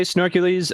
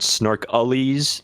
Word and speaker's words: Snorkulese: You can say snorkeles. Uh that is snorkel is the way I know I prefer people to pronounce it, but I've heard snorkelies.